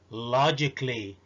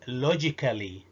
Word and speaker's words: logically: logically ما هياش ابدا logically.